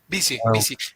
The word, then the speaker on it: busy: possibly on the phone busy this is an exemption an exception to the you you know you s here you don't say bus you say busy which is exceptional pronunciation please he was busy on